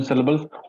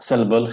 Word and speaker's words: syllable: Like here, we don't say syllable; it is syllable. So that syll gets the stress.